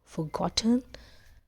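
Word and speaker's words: forgotten: तो बट ही हैड फॉरगॉटन where he had stopped. अब first of ऑल ये जो हमारा फॉरगॉटन है, ये र इज साइलेंट है.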